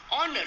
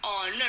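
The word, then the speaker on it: honour: ऑनर, that is with H, but here H इज a consonant, but यहाँ पे जो एच है वो साइलेंट है. Here the एच इज इन the silent form. Right now तो हम प्रोनाउंसिएशन क्या करते हैं उसका? ऑनर. हाउ we pronounce it? That is ऑनर.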